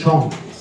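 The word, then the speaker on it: Chionh: My surname is Chong. You can see my Chong is pretty unique. I think many people never seen this Chong before. It's spelled as C-H-I-O-N-H.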